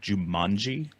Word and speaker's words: Jumanji: I think you mispronounced that. It's called Jumanji.